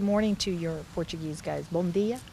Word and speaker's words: bom dia: Bom dia? Bom dia.